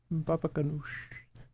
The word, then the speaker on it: baba ganoush: Baba ganoush. Baba ganoush. You gotta put a Wow. bit of stink on that last syllable.